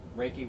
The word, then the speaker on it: Reiki: to come in for how do you say Ricky yeah Reiki whatever around I always say wrong I apologize Maria thanks